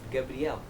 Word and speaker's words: Gabriel: random fact number two my name in Portuguese Gabriel is pronounced Gabrielle random fact number three